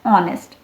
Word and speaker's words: honest: Now honest starts with H, but H is silent here. We pronounce it as honest. So the sound coming is again vowel. So here we are using an honest man.